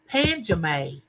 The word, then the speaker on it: Pajamas: with y'all before, but her name was spelled like pajamas, like pajamas that you wear at night to sleep in. Well, she pronounced it Panjame, Panjame, but it was spelled like pajamas.